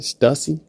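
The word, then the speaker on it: Stüssy: Stussy?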